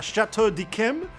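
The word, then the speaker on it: Château d'Yquem: It was a bottle of uh Chateau de Kim, which I know is pronounced that way because I saw it on a YouTube video pronounced that way.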